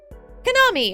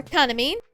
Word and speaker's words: Kanami: But now, it's time to begin Chapter 4, which will involve Kanami, or Kanami, however you want to say her name. Both are right.